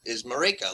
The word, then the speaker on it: Marika: But the pronunciation I just happen to know is Marika, like Jamaica.